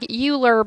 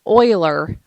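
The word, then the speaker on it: Euler: you have this formula it looks like uler but it's pronounced Oiler um because it is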